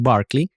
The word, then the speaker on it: Berkeley: del obispo es Berkeley y la ciudad en California se pronuncia Berkeley.